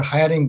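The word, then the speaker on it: hearing: যেহেতু তোমার হিয়ারিং date আসেনি, দুর্ভাগ্যজনকভাবে হিয়ারিং কে তুমি একবার হায়ারিং বলেছো, এখন থেকে তুমি আর এই হায়ারিং শব্দটা উচ্চারণ করবা না, তুমি হিয়ারিং বলবে, কেমন?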